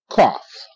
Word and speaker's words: cough: you okay but that's cough good trough TR a TR trough okay here again GH is not silent the GH is making the F sound f- F okay